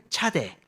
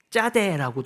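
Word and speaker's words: צדי: 아까 제가 서두에 말씀드렸지만 짜다라 합니다 이게 쌍 지우이 이게 발음이 서양에 잘 없기 때문에이 발음을 어 짜라고 잘 발음을 못 한다고 해요 예 그래서 어 서양 사람들은 차대고도 많이 하는데 우리는 사실 어 쌍주 옷을 발음할 수 있으니까 짜라고 해도 괜찮습니다 그래서 이것은 낚시바늘 또 이제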